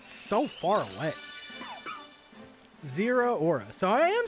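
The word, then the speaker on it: Zeraora: Zero Aura.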